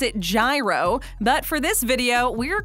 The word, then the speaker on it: gyro: National Gyro Day. My hero! Okay, so we know some people pronounce it gyro, but for this video, we're going with gyro.